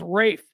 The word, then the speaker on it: Ralph: stop it Rafe fine the dude's name is Ralph it's spelled r a l pH in every other context throughout time that has been pronounced Ralph but somehow with this pretentious tebag it's Rafe Rafe fins born on this